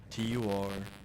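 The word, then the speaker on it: Türkiye: Turkey is what it says in Turkish, since the country became a republic in 1923. And 2021 is whenever that pronunciation became sanctioned by like global authorities. So it's Turkey. That's what it says. TUR-KEE-YEAH.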